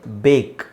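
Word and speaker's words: bake: ಆಕ್ ಈಗ ಇಲ್ಲಿ ನೋಡಿ ಇದರ ಉಚ್ಚಾರಣೆ ಬೇಕ್ ಬೇಕು ಅದು ಬ್ಯಾಕ್ ಅಲ್ಲ ಓಕೆ ಸೊ ಈಗ ನನಗೆ ಹೇಳಿ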